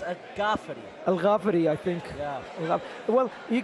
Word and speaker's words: El Ghaffari: the experience is definitely in the hands of a jafi or should I say AG Gaff because he got a bit upset of me yesterday that I said a jafi it's actually pronounced a ga Al gafi I think yeah well you can tell that